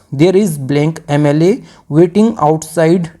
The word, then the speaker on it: MLA: यहाँ पे जो MLA की साउंड है, जो प्रोनाउंसिएशन है, ये वोवेल साउंड से स्टार्ट हो रहा है, तो इस वजह से